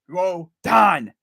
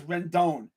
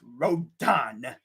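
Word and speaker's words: Rodón: there's a hector rondon this is rodon you know row your boat don i don't know why but here in rochester trying to say his name is so funny he says rendon rondon no there's no end between the ra and the don it's rodon there's no don't it's done row the boat don that's how you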